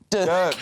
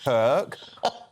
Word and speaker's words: Dirk: Dirk, not Kirk.